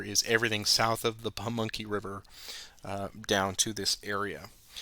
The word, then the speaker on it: Pamunkey: The additional movement restrictions are the no unit may cross the Pamunkey, and I finally pronounced that right. It's the Pamunkey.